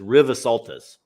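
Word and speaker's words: Rivesaltes: I had to look it up, and I had to hit the little deal to have them pronounce it for me, but it's just Rivasaltus. Oh, River Saltus.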